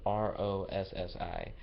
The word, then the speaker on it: Rossi: Her name is Gianna Rosie. So it's Giannarossi. It's spelled kind of off to me. Hold up. Okay, Gianna. So like Gianna, Gianna, and then the Rosie part is Rossi.